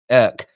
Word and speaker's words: Ek: Daniel, I think it's pronounced Irk.